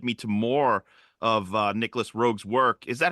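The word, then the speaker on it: Nicolas Roeg: that it led me to more of uh Nicholas rogue's work is that how you say his name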